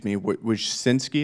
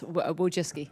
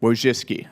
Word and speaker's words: Wojcicki: Miss Wojcinski, is that how you pronounce it? Yes, Wojcicki. Wojcicki, okay.